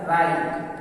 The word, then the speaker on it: write: फिर WRITE, तो यहाँ W साइलेंट है तो हो गया राइट।